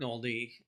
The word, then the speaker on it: Noldy: So, my name is Noldy, rhymes with Moldy.